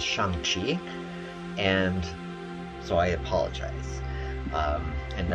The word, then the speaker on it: Shang-Chi: i am and um the actual pronunciation is shangchik and so i apologize and i will continue to use shanxi every time that i